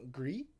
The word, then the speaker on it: Gris: Gris, it's the French word for gray.